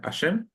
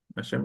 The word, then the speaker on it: Hashem: ¿Y cómo se pronuncia? Perdón. No, no. Eh, Ashem. Ashem.